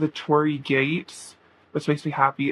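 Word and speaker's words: torii: It's called the Tori Gate, which makes me happy. It's not spelled like my name. It's spelled T O R I I, but it's um it's a Japanese um gate.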